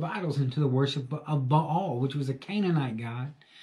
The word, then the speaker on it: Baal: There's a thousand different ways to say it. In Texas, it's one syllable, Baal. But Baal is, I believe, how you really pronounce it.